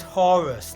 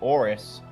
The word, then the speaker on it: Horus: for hores Horus I it's actually his name actually is Horus like the Egyptian God but you could deliberately slightly pronounce it off so if you ask a civilian who doesn't know it just sounds like Horus Tony's his Hispanic so he'd probably pronounce it orus since the H is silent usually yeah that's fair inish he's